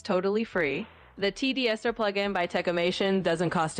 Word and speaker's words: TDSER: So just like T and then Dser al together.